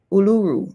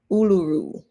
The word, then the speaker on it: Uluru: we have the Uluru in Australia.